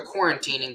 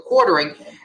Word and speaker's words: The Quartering: you can't now the i accidentally said his name wrong the other day but the quartering not the quarantining the quartering go and makes this